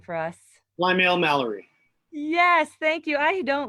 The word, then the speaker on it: Plymale-Mallory: Plymale-Mallory. Yes, thank you. I don't like mispronouncing people's last names.